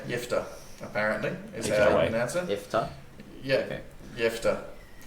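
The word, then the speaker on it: Jephthah: boys y y interesting so you just say soft J yeah soft J yifa apparently is can answer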